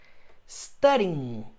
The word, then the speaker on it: studying: E aí eu vou inserir o ing no final, vai ficar studying, studying, studying. Gente, vai terminar com o som do in, ok? Esquece o G. Na pronúncia o G não existe.